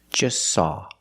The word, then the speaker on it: just saw: eat or just saw we see the t is between consonants so don't pronounce it it's silent just saw you link the S with the S link them together just saw just saw they just